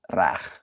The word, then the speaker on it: reg: But reg in Afrikaans is a word, and it's pronounced rag. Rag. With the it has to be rag. And rag means right.